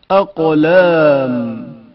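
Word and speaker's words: أقلام: اقلام قاف کی آواز شدت کے ساتھ ادا ہوتی ہے اور اچانک منقطع ہو جاتی ہے. اقلام اقلام قاف کے تلفظ کے وقت زبان کی حالت پر توجہ کریں.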